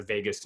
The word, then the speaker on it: vagus: so I mentioned the vagus nerve earlier if you're on this call and you don't really know that it's spelled v-a-g-u-s not like Las Vegas but uh vagus in in Latin which